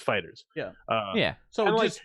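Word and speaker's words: FighterZ: And I was calling it Fighter Z for a while, but then I saw a video where the developers of the game actually said like it's pronounced Fighters.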